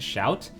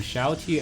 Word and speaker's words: XiaoT: during an interview um Shati actually said his name um um stands for small Templar which is sha T So sha meaning small in Chinese so I'm just going